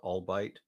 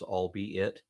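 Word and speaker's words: albeit: word what you called albite it's I had the same problem when I first discovered that word uh but but it's actually pronounced as if it were three words all be it ah yeah English spell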